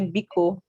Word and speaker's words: biko: Now, in case you want to say words in Igbo like please, words like please, we say biko.